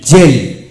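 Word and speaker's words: gel: এল এম এন আর এস থাকলে জি এর উচ্চারণ বর্গাচ এর মতো হয় যেমন জি ই এল জেল জি ই আর ইউ এন ডি জে রান্ড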